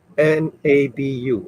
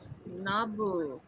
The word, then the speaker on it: Nabu: How do you How do you spell it? N A B U or Dr. Fate. Nabu.